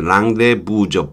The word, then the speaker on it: rendezvous: 랑데부이 무라고 하는 거 애쓰는 발음하지 않죠 맨디라는 s는 그 중간에 나오는이 제트도 발음하지 않아요 그래서 랑데부죠 부는 유람주에요 단수형은 아니고